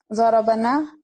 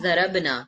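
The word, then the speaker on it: ضربنا: Darabana. Darabana. Don't say it darabna. Otherwise the meaning will change.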